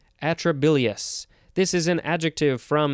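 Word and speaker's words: atrabilious: adp and inorganic phosphate next we have atrolase atrobillae atrobilliers atrobilius atrobilius i figured it out a t r a b i l i o u s atrobilius this is an adjective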